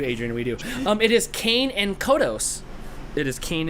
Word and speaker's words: Kang: Yeah, not cane like sugar cane. No, but that's Kang. I don't say G. I don't have any G's or INGs in my vocabulary, so it's Kane. K-A-N-G.